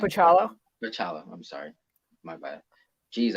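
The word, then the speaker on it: Bachalo: Chris Bacalo on, is that how you say his last name? Pachalo.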